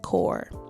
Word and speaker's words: Corps: Squad, made possible by Canada's Service Corps, pronounced CORE.